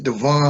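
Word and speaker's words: Djavon: uh my name is devon that the j in my name is silence uh spell d j a v o n but the j is silent yes listen you've had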